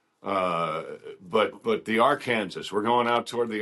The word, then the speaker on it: Arkansas: Oh, on Gunsmoke they call it the uh they don't call it the Arkansas River. They call it the R Kansas. R Kansas, which you know that's how it's spelled.